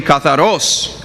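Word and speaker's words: καθαρός: Katharos. Okay? Well, the accent is on the O, so it'd be katharos.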